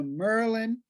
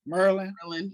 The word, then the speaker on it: Maryland: She's the Merlin, that's how I say it, Merlin. That's I know you from here, Merlin. That's how they say it here. I say Maryland.